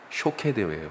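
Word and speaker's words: שֹׁקֵד: 살구나무가 발음이 비슷하다. 그렇죠? 예. 살구나무가 샤케드라고 하는 단어예요. 샤케드. 그런데 지키다라고 하는 이 말은 쇼케드예요.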